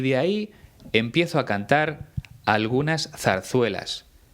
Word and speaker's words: ahí: Son 3 formas muy parecidas a la hora de pronunciar. La única diferencia es que la primera lleva tilde en la I y se dice ahí. Las 2 siguientes se pronuncian ay, pero se escriben de forma totalmente distinta.